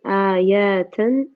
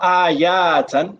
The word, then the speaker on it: آيات: عشرة آيات من سورة not ayatan, not ayatan. There's no alif after the ya.